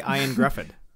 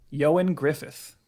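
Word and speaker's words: Ioan Gruffudd: was going to say i was going to say iron griffon yeah that is not what it is no way yeah you want me to tell you how to pronounce it yeah yeah yeah yeah you go johan griffith okay he needs to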